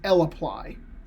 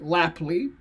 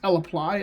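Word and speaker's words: lapply: in base R is L apply okay L apply now don't ever call it like lap Li okay it's L apply I had a friend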